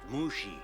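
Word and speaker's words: Mushi: Doc right now Mr Lee and Mr Lee mushy is it it's pronounced mushy I love the idea that Ira decided to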